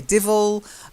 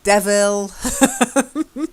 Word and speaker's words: devil: But you do hear people say divil and devil. The correct phonetic pronunciation is devil.